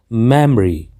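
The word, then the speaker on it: memory: अगला है हमारा यह जिसको हम अक्सर गलत उच्चारण करते हुए मेमोरी बोलते हैं जो कि कहना बिल्कुल गलत है क्योंकि इस का सही उच्चारण सही प्रशिक्षण जो है वह है मैमरी मैमरी जिसका अर्थ होता है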